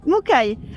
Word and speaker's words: Mukai: Comment tu le prononces, Mukai? Ok, c'est ça. Mukai.